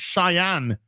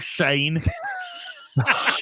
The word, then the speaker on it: Cheyenne: It's Cheyenne, not Shane.